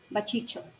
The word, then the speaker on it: Baciccio: So this is how you pronounce it if you speak Hindi. Baciccio.